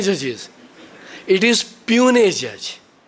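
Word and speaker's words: puisne: P judges it is pun judge that s is silent psychology p is silent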